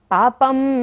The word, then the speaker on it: पापं: जब भी क्षत्रिय वाला श होता है बिंदी के बाद तो उसका उच्चारण हम म करते हैं। पापम शनात् क्षयमुपेति पापम शनात् क्षयमुपेति शरीर भाजाम।